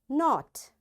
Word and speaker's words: knot: K is silent when it comes before N. So wherever in a word you see K is there and right after K the next letter is N, you will not pronounce this K.